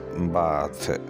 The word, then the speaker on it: bath: इसको हम पढ़ेंगे बैद और जब ये नाउन होगा तो इसको पढ़ेंगे बाथ।